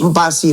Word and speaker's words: Mpasi: Harus ya, karena Lionel Mpasi. Empasi namanya. Itu emang adanya Lionel Messi. Empasi. Lionel Mpasi. Wah, Bacanya nggak gitu kan bacaan.